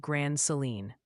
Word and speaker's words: Grand Saline: Multiple folks are saying Grand Saline, Texas is pronounced Grand Seline.